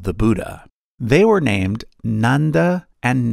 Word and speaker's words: Nanda: They were named Nanda and Nanda. Note that while the English spelling is the same, the pronunciation is different. Nanda, Nanda.